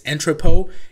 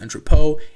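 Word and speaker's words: Entrepot: biggest Marketplace by volume at the moment is entrepo and I know it's built in tripod but it's pronounced entrepo and you can go there by going to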